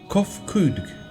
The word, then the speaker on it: Kofkudg: As for nomenclature to address my individual person, I believe it would be pronounced Kofkudg. Yes, Kofkudg of the E.